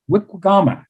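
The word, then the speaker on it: wiikwegamaa: But the verb, and what's the pronunciation? Is it wiwigama? Wikwigama. Wikigama. But the verb, wikwigama, to be a bay, releases the water from bondage and lets it live.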